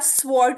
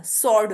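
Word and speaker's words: sword: है आंसर इसके बाद स्वर्ड नहीं होता स्व कहते है तलवार को ठीक है स्व नहीं होता सड होता है सड ठीक है टू में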